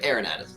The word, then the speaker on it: Arinad: like I've been mispronouncing Arin no you're good ainad okay so I've been pronouncing it correctly welcome man how are you